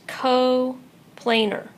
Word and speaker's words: coplanar: talk about yet is co planar right there's not an e in the word I just put it there for pronunciation coplanar and just like co-linear